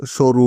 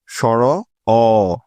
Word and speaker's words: স্বর অ: দিয়ে থাকে ঠিক আছে অনেকেই আবার এই বর্ণটাকে সরু বলে যা হলো একদমই ভুল সঠিক উচ্চারণটা হল স্বর অ সর অ তারপরের স্বরবর্ণটি হল স্বর